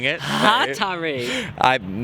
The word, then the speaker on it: Hatari: So Hatari. I'm not even going to try it because someone will tell me off. The bottom line is this was fantastic. Apparently the thrust goes on the first syllable.